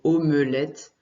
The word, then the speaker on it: omelette: Omelette. Alors on prononce, si tu le lis, ça se prononce plutôt omelette, mais le mot, quand on le dit, souvent on dit omelette.